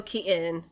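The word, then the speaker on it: Keaton: he said his last name hi I'm Michael Kon I'm Michael Kon it's just and you if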